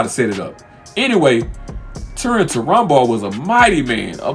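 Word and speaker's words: Túrin Turambar: Turin Turambar. That's how you say his name. Turin Turambar.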